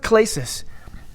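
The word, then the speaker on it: κλῆσις: It's pronounced klesis.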